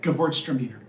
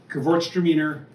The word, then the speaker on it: Gewurztraminer: is such a such a hard word groom Gewurztraminer anyways so this is the kit it's a